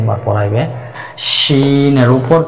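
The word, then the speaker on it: شين: যে শিন হরফটা জিহ্বার মধ্যখান, অর্থাৎ জিহ্বার মধ্যখান উপরে, তার বরাবর উপরে তালের সঙ্গে লাগিয়ে একটু শক্ত আওয়াজে উচ্চারণ করতে হবে, 4 আলিফ পরিমাণ টেনে। শিন শিন শিন।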